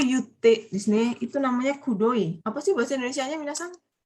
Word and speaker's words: くどい: Kutoi atau kudoi itu bacanya Ilham?